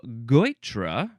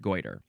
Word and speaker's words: Goitre: It is actually pronounced goiter. It is spelled Goitre. It is the chiefly British variation of goiter with the R and the E swapped.